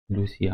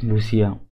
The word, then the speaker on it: Lucia: c'è Poi vedremo Lucia Lucia che in realtà sarà un nome italiano sicuramente perché solo che gli americani lo pronunciano Lucia il traffico diciamo Allora